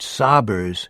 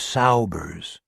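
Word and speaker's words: Saubers: Billy pronounced it sabbers instead of Saers.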